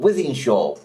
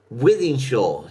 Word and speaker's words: Wythenshawe: spell it, but that's Wythenshawe. See how it's spelt? It's not spelt with an I, it's spelt with a Y, and shore is spelt with a W.